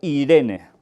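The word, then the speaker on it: εἰρήνη: en el Nuevo Testamento que se puede pronunciar Irene de ahí el nombre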